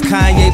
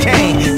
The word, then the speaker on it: Kanye: Now all I need is y'all to pronounce my name as Kanye, but some of my plastics still say Kane.